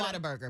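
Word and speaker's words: Whataburger: You saying what? What a burger because that's just how they say it in Oklahoma.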